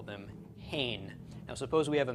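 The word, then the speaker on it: הן: a group of women is referred to as hain that's they effeminate also them okay and Hebrew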